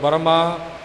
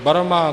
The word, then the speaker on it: ब्रह्मा: प्रचलन हो गया जी गुर ईसर गुर गोरख बर्मा गुर पार्वती माई सो ये नियम मुताबिक ठीक नहीं गुर ईश्वर गुर गोरख ब्रह्मा गुर पार्वती माई य उच्चारण शुद्ध है तीरथ गुरा एक देह